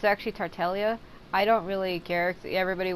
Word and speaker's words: Tartaglia: want to say it people have been saying that the g is silent it looks like it would be tartaglia but it's actually tartelia I don't really care